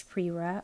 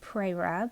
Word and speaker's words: Prera: the pilot prir and depending on where you are from you may pronounce this prir or prra apparently in the US we like to be different and say prra but the rest of the world says Prest so I'm going to